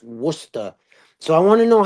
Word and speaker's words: Worcester: Yeah, and it looks like Worcester, but they always tell us it's pronounced Worcester.